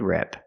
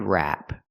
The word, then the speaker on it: wrap: rep a head rep it's pronounced a head wrap we use the a sound like black cat it's more open rrap rrap this is a head wrap we cannot say this is a head rep we don't use the S sound like bed and 10 rep because that's a different